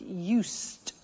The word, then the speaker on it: used: I said used with a T sound.